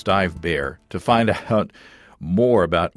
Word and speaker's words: Dive Bär: b a.ch it's it's it's spelled like dive bar but it's dive bear to find out more